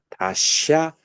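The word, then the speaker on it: daśa: 자, 샤가 발음이 어디서 되냐면은 혓바닥을 잇몸에다가 대. 잇몸 위에다가 대고 샤. 샤. 보통 사할 땐 사잖아요. 이건 잇몸에다 대고 샤. 다샤 아디스타나.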